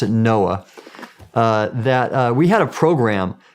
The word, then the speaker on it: NOAA: And so for example, when I was with the National Oceanic and Atmospheric Administration, we pronounced it NOAA, we had a program called the Ocean Exploration